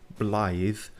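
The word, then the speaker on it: Blaidd: a half but we eventually learned how to pronounce his name blithe uh he didn't tell us much just that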